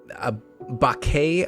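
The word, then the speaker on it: Bacchae: were known as um a bake I believe b-a-c-c-a-e okay I believe is how you would pronounce that sure they are fey-like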